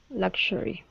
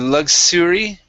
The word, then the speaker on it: luxury: uh luxury so here luxury yeah instead of luxury with an S sound luxury okay luxury huh